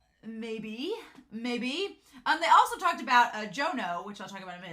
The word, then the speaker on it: Jono: Speaking of which, Stacey said that I've been saying his name is Juno. It's Jono.